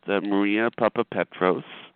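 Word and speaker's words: Maria Papapetros: happiness uh today we have a returning guest Maria Papa Petros um did I pronounce that correctly ma'am yes uh like a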